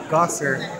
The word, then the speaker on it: Gasser: And my last name is spelled Gasser. Sounds in German, Gosser, but it looks like something else, which I won't say out loud at the moment.